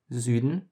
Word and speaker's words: Süden: Some German examples for this letter are Süden, which is south, and Flügel, which is wing. Again, this is basically the middle between U and E.